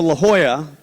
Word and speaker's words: La Jolla: And when we went to La Jolla, that's how it's pronounced, you guys.